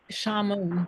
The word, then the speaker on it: Shamoon: It's Shamoon, just the way it's spelled. There's no L in it.